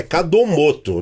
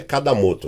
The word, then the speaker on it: Kadomoto: É todo o perfil que você procurar pelo nome Cadomoto, vai aparecer escrito para você, que nome japonês é complicado, né? É Cadomoto, não é Cadamoto, tá? É Cadomoto.